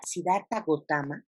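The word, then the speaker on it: Siddhartha Gautama: fundados siddharta gautama bogotá más de hecho la pronunciación correcta sería siddharta gautama nosotros vamos a tener que sedar para votar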